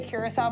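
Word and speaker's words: Curaçao: I was gonna say a good way to remember the Curacao pronunciation is the same as that blue Curacao. Like it's CU and then the Sao.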